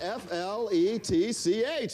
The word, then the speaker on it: Fletch: in two movies and it rhymes with stretch who is this guy go start painting and when you have it gold gold is in first and he's got f-l-e-t-c-h Fletch yes okay